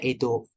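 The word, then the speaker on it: 江戸: Kanji, ini bacanya Edo.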